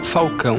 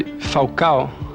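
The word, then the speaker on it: Falcão: मेरा नाम फाल्काओ उच्चारित होता है, लेकिन यह उस रोमा प्रशंसक की तरह है जो मुझे फाकाओ कहता है।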